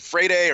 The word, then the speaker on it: Freire: I think it's spelled Freire. Sean pronounced it Freire or something like that. Sean was always great about the actual pronunciation, would pronounce it with the accent, especially with the international names.